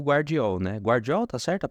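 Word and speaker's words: Gvardiol: Guardiol, tá certo a pronúncia da visão? Givardiol, olha que lindo.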